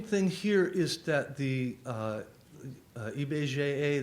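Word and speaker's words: IBGE: here is that the eBay GAA that's how you pronounce it in Portuguese has been collecting and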